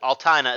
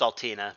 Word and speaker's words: Altina: it it is kurtz and altina i mean altana is the way that i always pronounce that but i know the character uh